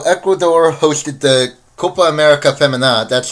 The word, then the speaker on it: Femenina: For the second time in a row, Ecuador hosted the Copa America Femenina. That's how it's pronounced.